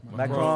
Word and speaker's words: Macron: And we already know Trump, he already got a problem with what is it, Macron? Is that how you pronounce it? Macron. French. Yeah.